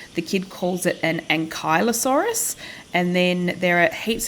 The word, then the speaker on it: Ankylosaurus: And then there are heaps of YouTube videos that say Ankylosaurus, like a human ankle, and then just add osaurus on the end. And then a bunch of other videos that say Ankylosaurus, or Ankylosaurus.